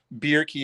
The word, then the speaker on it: Bjerke: His name's Russell Bierke, and I think it's spelled Bjerke, or just if you put in Russell B Australian surf slab, he'll pop up.